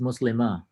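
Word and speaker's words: مسلمة: Because recall that in Quran and in spoken Arabic, if you end your speech with a ta marbuta, you pronounce it like a ha. You don't pronounce the tun.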